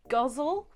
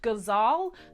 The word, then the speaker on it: ghazal: found many different ways to pronounce this including on the Poetry Foundation website which said that it is pronounced “guzzle” however because this is an Arabic writing form, I found places that say it's pronounced ghazal that sounds a bit more correct. So that's the way I'm gonna say it, unless it is guzzle like let me know in the comments down below.